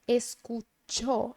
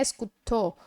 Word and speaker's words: escuchó: Mas lembre que a pronúncia é escuchó, escuchó, não é escutou, ou nem escuchó.